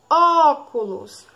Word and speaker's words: óculos: exemplo um último exemplo é a palavra óculos óculos qual é a sílaba mais forte é sai vocês vão dizer